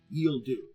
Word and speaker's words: Ghille Dhu: so who are the yield do and if you look at their spelling yes it is a sexy plan I'll explain it's spelled g h i l l e d h u yield do they are from the